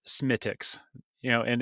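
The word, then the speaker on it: Smithwick's: that even though it's spelled Smith Wix it's pronounced smiix you know and it's usually real fast like have a smiix um if you find an Irish bar an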